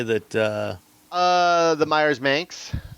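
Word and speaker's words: Manx: uh uh the Myers Ms rhymes with Spanx um oh yeah looks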